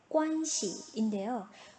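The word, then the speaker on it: 关系: 오늘의 마지막 단어 관계입니다. 관계의 발음 관시인데요.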